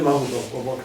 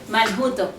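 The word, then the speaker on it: מלכותו: No se dice Marjuto. Maljuto. Ya, por eso, porque le llaman acento. Pero en realidad la palabra es Malhut.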